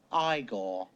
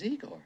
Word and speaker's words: Igor: No, it's pronounced Iiggore. But they told me it was Eigor.